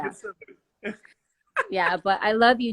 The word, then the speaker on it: Gethsemane: know, except I need to know how to pronounce it again. But, Gethsemane. Yes, the teacher said it, and I can't remember how. Yes, Gethsemane.